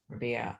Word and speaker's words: Rabeeah: Am I pronouncing that correctly? Yes. Rabeeah.